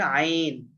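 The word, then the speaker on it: عين: তারপরে আইন, আইন, আইন, আইন, আইন। আইন, আইনটা আইন।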